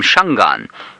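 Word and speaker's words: Shangaan: the sort of Norm but the real word is one a with an e on the end of it because that's actually if you listen to it carefully that's how it's said and so I always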